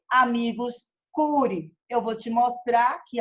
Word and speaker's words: amicus curiae: Se escreve amicus curiae, mas se fala amicus curiae, que é o amigo da corte.